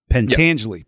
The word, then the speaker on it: Pentangeli: like you said like uh I'm going to mispronounce it, but Pentangeli Pentangeli.